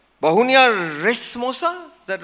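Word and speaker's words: racemosa: Anish, I'll never pronounce it right. Bahunia Resmosa? Is that right? Somewhere. Resimosa.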